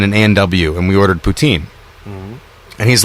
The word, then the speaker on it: poutine: A&W and we ordered poutine. And he's like, you're saying it wrong. It's putain. Or whatever, whatever French people would call it. Poutine. Putin. Which sounds very much like spitting into a spittoon.